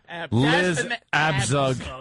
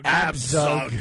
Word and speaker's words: Abzug: Also in the audience were unamused Sonia Osario, president of the city's National Organization for Women and Liz Abzug. Absug. Abzug. I'm so sorry.